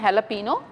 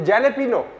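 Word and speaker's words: jalapeño: ये जैलेपिनो नहीं, जैलेपिनो नहीं होता, हैलापिनो होता है।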